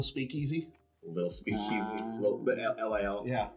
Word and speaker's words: Lil: Little bit LIL. Yeah. Little Speakeasy. Did I pronounce the T that doesn't exist? It doesn't exist. Yeah. Lil.